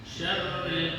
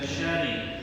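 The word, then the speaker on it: شَرِّ: minaril waswasil minyaril wasaril ada tasdidnya itu di syarril nah ditekan syarril Min syarril waswasil khas alladzi ywwiuiur Nah itu PRnya diil wasil gu bacanya bu bukan Syari tapi Syar Syar il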